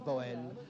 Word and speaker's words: Boel: Enendre le prononce Bou mais à partir de Bruxelles et au-delà les romans les les gens d'expression française disent Boë.